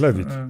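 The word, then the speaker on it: Levitt: To nie są rejecty filmowe, no bo Gordon-Lewitt, to się tak wymawia, Lewitt? Lewitt, on Lewitt.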